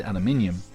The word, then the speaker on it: aluminium: just love the line, I pronounce it aluminium because there's an I next to the U and M.